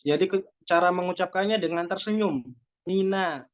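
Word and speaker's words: مِنَ: Mina, jangan mino, mina itu tebal, tapi harus dengan tersenyum.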